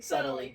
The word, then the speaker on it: subtly: There's no B in subtly. There's a B. The B, it's a subtle B. It's a subtle. Subtly. Subtle. I like the subtle B.